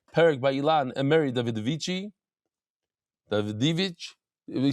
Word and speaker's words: Davidovich: by Ilan and Mary Davidovich. He says you said it's not the Davidici. You don't pronounce the I at the end? Davidovich.